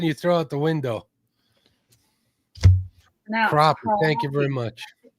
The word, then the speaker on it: crappie: crappie. Thank you very much. If if it was supposed to be said like that, it would be spelled like that. Crappie, but it's crappy.